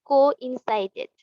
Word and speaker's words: coincided: Coincided. coincided coincided, আমাদের এইভাবে syllable ভেঙে ভেঙে নিজেরাই উচ্চারণ করতে পারবা।